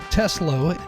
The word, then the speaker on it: Teslow: Teslo. Am I pronouncing your name correctly?